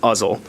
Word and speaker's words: Uzzle: being a shooting range the way I was taught to say it was like you say muzzle it's uzzle but I know there's